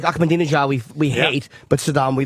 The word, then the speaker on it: Ahmadinejad: I just wanted to say Ahmadinejad and prove I knew his name. I just wanted to sound smart. You pronounced that correctly.